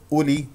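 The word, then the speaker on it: أولي: الشفتين في همزه مضمومه وهذه الواو تكتب ولا تلفظ اولي اولي ننتقل من اللام المكسوره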